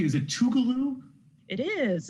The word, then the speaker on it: Tougaloo: so uh what about is it am i pronouncing this right is it tougaloo it is it's tougaloo college and so tukulu is considered the cradle